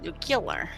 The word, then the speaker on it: nuclear: nuclear. Yeah. It's pronounced nuclear.